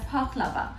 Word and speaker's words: baklava: enjoys this dessert called baklava now i pronounce it as paklava it's stemmed from the